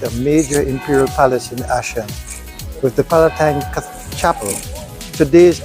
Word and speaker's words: Aachen: And so, after a most enjoyable day in Aachen, that's how the local people pronounce the name, we headed back to Brussels, here passing a castle.